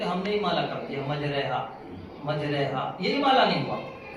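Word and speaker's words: مجراها: امالہ ہو جائے گا۔ اور اس کے ہجے کریں گے میم جیم زبر مج را امالے والی ہا الف زبر ہا مجریہا، میم جیم زبر مج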